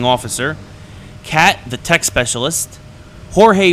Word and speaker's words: Jorge: cat the tech specialist Jorge or or George as he's referred to into the game but it spelled like Jorge uh the machine gunner